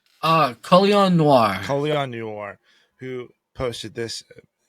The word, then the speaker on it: Colion Noir: There was a credit to Nulian Kowar. How do you say his name? Colion Noir.